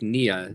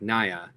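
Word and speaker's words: Nya: Oaktown Brick says it's pronounced like Nia, not like Naya.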